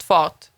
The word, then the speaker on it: fart: farting camera now in in Sweden speed is basically spelled fart and it's pronounced fought so it's basically the